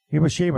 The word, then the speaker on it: Hiroshima: Hiroshima.